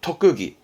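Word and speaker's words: 特技: 발음은 토끄기.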